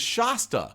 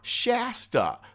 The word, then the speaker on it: Shasta: my wife's name is Shasta like pasta some people call her Shasta like the Shasta daisy